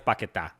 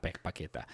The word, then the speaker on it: Paquetá: Paquetá, I believe, scored. Yeah, Paquetá. It's Paquetá, not Paqueta. So, you know, because he has the accent mark on his name.